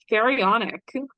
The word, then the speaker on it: Pharaonic: Give me how do you pronounce this? Pharaonic.